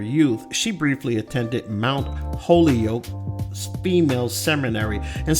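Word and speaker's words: Holyoke: she briefly attended Mount holy Yol female Seminary and some people might pronounce that Hol yoke uh before returning to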